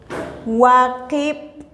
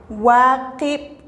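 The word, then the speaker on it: waqib': También tenemos waqib, waqib, que significa seis.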